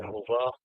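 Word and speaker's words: Yehovah: So kung babasahin natin 'yan ay Yehhova. Pero kung pakikgan natin ganito 'yung 3000 nakalagay diyan Yhova ayan Yahova. Yahova yung pagkabasa diyan. Yan yung pronunciation ng masoretic.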